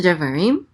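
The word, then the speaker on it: דְּבָרִים: current week's tour portion okay so back to devarim which means words this let's let's do we're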